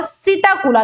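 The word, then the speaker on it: Psittacula: होता है अपना क्रो पी स्टैंड्स फॉर सीटा कुला देखि जो यहां पर पी है वो साइलेंट है बच्चों सीटा कुला में जो पी होता है वो साइलेंट होता है वो होता है अपना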